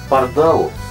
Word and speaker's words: Pardál: редкие случаи были семёрка Парда Парда Парда на конце ударения Да Парда и Органик